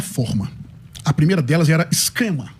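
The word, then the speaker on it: σχῆμα: A primeira delas era esquema, ou esrema, na pronúncia do pastor Roberto Cruvinel, que era uma aparência externa, como quando uma miragem toma a forma de água.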